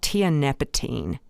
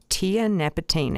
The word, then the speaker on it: tianeptine: station heroin and that's called tianeptine T tianeptine it's spelled TI a NE p t i NE e um that is